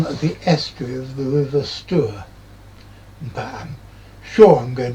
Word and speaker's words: Stour: angry Essex folk that the river is pronounced Stour or Stour or something, but it looks like Stour to me. And I think Stour makes it sound like the river that goes through Stourbridge.